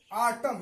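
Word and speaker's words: autumn: है भजन अब देखिए दूसरा रूल क्या बताता है एम के बाद एन आता है तो एन साइलेंट होता है एम के बाद एन आता है एम के बाद एन आता है तो एन क्या होता है साइलेंट होता है एम के बाद यहां देखिए एम है इसके बाद ए है आटम इसको क्या पढ़ते हैं आटम तो यहां आखिर में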